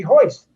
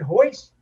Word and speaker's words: Hoist: to me in August it's going to be hoist he said hoist does he have a